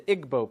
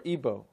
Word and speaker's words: Igbo: big happening is in Nigeria you have the Igbo people or ebbo pronounced either way there's 40 million of them